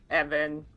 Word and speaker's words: Eoghan: Evan.